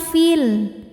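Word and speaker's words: في: Jadi, kalau berhenti panjang fi dua harakat. Tapi, kalau terus gugur pemanjangnya, fi-nya pendek fil.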